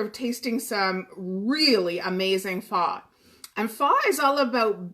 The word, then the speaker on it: pho: So this recipe is kind of a take on a pho, and that's the proper way to say it in Vietnamese.